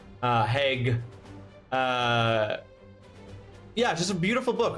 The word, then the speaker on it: Haig: I've always said it was Haig with a hard G. Haig. Haig.